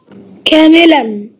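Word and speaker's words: كاملاً: كاملا. كاملا، برافو عليك. ايه هو الحرف اللي ينطق ولا يكتب هنا؟ النون.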